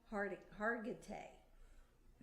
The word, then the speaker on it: Hargitay: I think it's Marisha Hargitay. That's how it's pronounced.